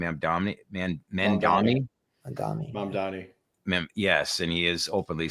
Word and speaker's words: Mamdani: New York, saw the debate with Cuomo and how do I pronounce the gentleman's name? Mamdani.